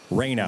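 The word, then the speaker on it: Reina: talked to is it how do you say your first name Raina Raina okay ask if they've ever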